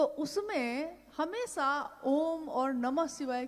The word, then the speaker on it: ओम: हुई उस ध्वनि की आवाज थी अ उ म अगर एक साथ सुना जाए उसको तो उसकी आवाज गूंजती हुई ऐसी है जैसे हम बोलते हैं या उच्चारण करते हैं तो हम कहते हैं ओम है वो अ उ